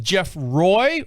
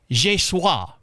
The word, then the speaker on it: Geoffroy: said, so is it pronounced Jeff Roy or Jeffrey? He said, no, neither. I'm thinking, okay, French. God, why didn't I take that class, my second semester, and why didn't I take it? He's pronounced, and he sent me the actual link, and he says it's pronounced Je suis.